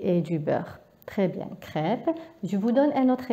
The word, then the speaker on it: crêpe: Alors l'accent E accent circonflexe طريقة النطق تاعو هي نفسها طريقة نطق ال E accent grave. ما كاينش تغيير. نعطيلكم مثلا crêpe.